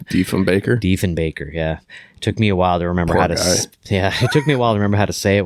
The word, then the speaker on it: Diefenbaker: Diefenbaker.